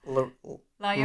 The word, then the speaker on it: La Llorona: La Llorona. My Sharona. The double L is a Y.